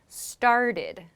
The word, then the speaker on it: started: So in the examples that you included, party, it's like a D sound, and started. So party and started, it's like a D sound.